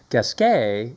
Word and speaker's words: Gasquet: So anyway, Gasquet is how the French would pronounce it. It was the Gasquet brothers. They had they were French.